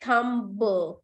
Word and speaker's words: thumb: Whatever is ending with B here, B is not having any sound in the pronunciation.